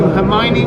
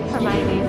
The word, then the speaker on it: Hermione: Everyone was pronouncing Hermione wrong, and she had to figure out a way of how to spell it out in the book so people would know. So he added that scene of her going, no, it's Hermione. Would know how to say it.